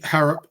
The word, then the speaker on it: Harrop: I'd like to see Harrop, that's how you say his name, start instead of Judge.